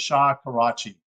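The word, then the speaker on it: Shakarchi: Suisse and later laundry by karchia Executives I'll spell that to you SK I'm sorry s-h-a-k-a-r-c-h-i so it's Shah Karachi Executives this money paid for the delivery of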